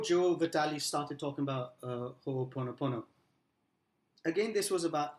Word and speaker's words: Ho'oponopono: So I'll pronounce Yeah, this. please. Ho'oponopono.